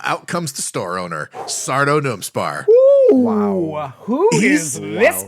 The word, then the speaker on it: Sardo: bit is that it's just Sardo, no Mister, accent on the dough.